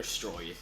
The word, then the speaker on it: Stroid: Is it pronounced Stroid? It's um Dr. Stroid.